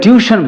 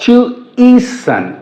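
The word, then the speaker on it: tuition: insert कर देंगे क्योंकि यह वर्ड ट्यूशन बोल देते हैं आप बट करेक्टली प्रोनाउंस्ड एज ट्वी और टू ई सन टू ईसन next क्वेश्चन है क्वेश्चन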